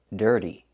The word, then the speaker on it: dirty: We cannot pronounce the word dirty. It's dirty. We need this er sound in your voice, er, like burger. Er. Der, dirty. It's a hard word to say, so practice saying it.